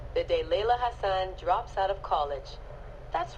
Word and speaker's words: Hassan: Okay, so her last name is pronounced Hassan, and she has way too much attitude.